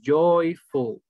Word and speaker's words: joyful: Ok, la siguiente, joyful. Joyful. En inglés la letra J suena como Y, como Y en español.